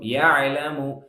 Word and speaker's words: يعلم: يعلم يعلم يعلم ஐன் கட் பண்ணக்கூடாது. يعلم என்று சொல்லக்கூடாது. يهلم அப்படின்னு சொல்லக்கூடாது. يعلم أعبد நஅபுது மாதிரி யஅலமு சாஃப்டா சொல்லணும். யஅலமு ரொம்ப அழுத்தி யஅலம் அப்படிலாம் சொல்லக்கூடாது.